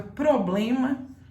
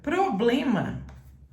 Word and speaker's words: problema: pessoa fala a palavra problema errado então a palavra problema problema capriche nessa palavra problema você se não tem nenhum problema de fala você tem que pronunciar todas as letras problema problemático problematização não